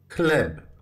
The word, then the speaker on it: chleb: The first digraph is the combination of two letters, C and H. You should pronounce it as ha. Ha. Like chleb. Chleb. Please take note that it is pronounced the same as the single letter ha.